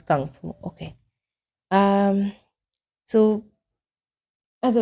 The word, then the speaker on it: Kung Fu: So how to pronounce Kung Fu? It says Kung Fu.